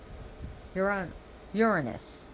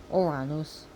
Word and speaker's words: Uranus: Uranus. Uranus. Different pronunciations, but Uranus is more correct pronunciation in Greek.